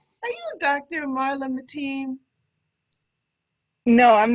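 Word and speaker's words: Matine: in riverside california uh while her name is spelled m-a-t-i-n-e it is pronounced mateen can you explain that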